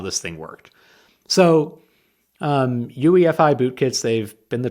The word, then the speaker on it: UEFI: you pronounce it because I pronounce it I do all the letters like you do UEFI instead of UI UE ufi it's the very first